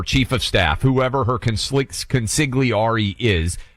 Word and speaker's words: consigliere: of staff, whoever her consigliere is. You don't pronounce the G. Consigliere.